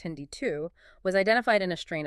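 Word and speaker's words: HindII: The first enzyme Hindi pronounced Hindi 2 was identified in a strain of hemophilus influenza way back in 1970.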